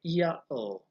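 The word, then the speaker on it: Ιαω: And the interesting thing about Yahoo is when you translate it into Greek, it is Yahoo, because in the Greek language there was no H sound at the time. So instead of Yahoo, it was Yao or Iao.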